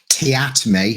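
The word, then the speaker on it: Teatime: So they employ Mr. Te time or Tayatme as he prefers to be pronounced from the guild of assassins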